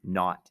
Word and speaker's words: naught: So A0, now you don't have to write this down, is pronounced A-N-A-U-G-H-T, naught. It means the initial amount.